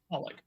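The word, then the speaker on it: xxxHOLiC: there's a manga um it's spelled XXX holic and it's holic yes yes um but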